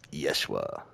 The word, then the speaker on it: Yeshua: like the Hebrew text it's spelled like uh i-e-s-u-s it's pronounced Yeshua it's crazy what was